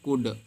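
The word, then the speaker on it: could: नहीं पढ़ेंगे यहां पे कोड में ल नहीं पढ़ेंगे सिर्फ यू और दी पढ़ेंगे देखो कूद कूद पढ़ेंगे ना की कोल्ड भी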